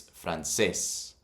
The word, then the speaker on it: francés: Again, it's not francés, it's francés. So it should be, if it wasn't for that accent, it would be pronounced francés. But because of the accent, we know that it's actually pronounced francés.